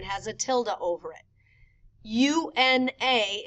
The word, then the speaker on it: una: U-N-A is pronounced una. U-N with a tilde A is uña.